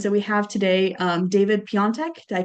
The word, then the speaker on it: Piatek: And so we have today David Piatek. Did I pronounce that right?